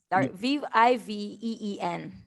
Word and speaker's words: Viveen: Of course, and the Vivian is spelled V-I-V. Oh, go ahead. V-I-V-E-E-N. Viveen. That's Right.